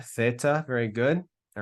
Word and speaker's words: theta: But it's so that's the theta. Perfectly, it will be pronounced as like Thomas, okay? But normally it's pronounced like TH in theology.